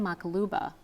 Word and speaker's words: maqluba: specials, and I ended up ordering a lamb makaluba.